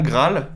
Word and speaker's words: Graal: Donc, c'est bien Graal, bien Avec prononcer deux A. le L, parce que sinon, c'est Ah la oui.